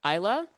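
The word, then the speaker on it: Islay: Um so, you know, Arbbeg uh we're located on Isa um our our island home in in the Hebdian Islands. Um and some people pronounce it all sorts of weird ways, but it's pronounced Isa.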